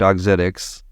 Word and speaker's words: Auxetics: going to be telling the origin story of otics did I pronounce that correctly Ramsay that's correct otics otic autic so autic is a Medtech company